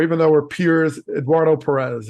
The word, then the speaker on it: Pérez: A real great mentor, even though we're peers, Eduardo Perez. I know we should say Perez because that's really the right way to say it.